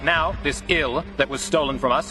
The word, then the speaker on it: IL: And right now, this ill that was stolen from us is located somewhere in the Limitless Fortress. You're calling it ill? Pronounced exactly the same as the English word ill, meaning sick or dying?